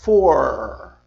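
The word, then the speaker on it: four: E dizem assim, for, certo?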